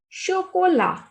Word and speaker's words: chocolat: Le chocolat. Chocolat. T is muted consonant whenever it is at the end. So the pronunciation is le chocolat, chocolate.